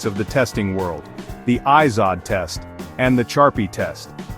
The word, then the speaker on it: Izod: The ISOD, pronounced ISOD impact test, is one of our main contenders.